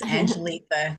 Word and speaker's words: Angelita: Let's go to Angelita. Am I saying your name right? Yes, ma'am. It is Angelita.